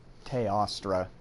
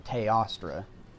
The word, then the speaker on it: Teostra: Teostra. You pronounce letters in different manners than you would conventionally. You pronounce the E as an A in Teostra instead of being like Teostra.